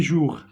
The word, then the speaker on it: jours: Les jours, on n'a pas prononcé S, Non. donc S, lettre muette.